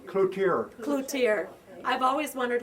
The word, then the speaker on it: Cloutier: The cloutier is in French, you know. Okay. The T is silent in French. Cloutier is supposed to be. Okay. And they come out with clouture.